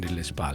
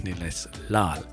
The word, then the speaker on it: Nilesh Lal: And Nilesh Lal, I have to say it correctly because I did mention Nilesh Pal. It's not Pal, it's Nilesh Lal.